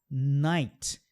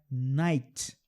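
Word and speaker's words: knight: A gente percebe esse som também em KN, onde o K some. Night. Então essa palavra aqui, que significa cavaleiro, né? Do guerreiro, cavaleiro, né? Night.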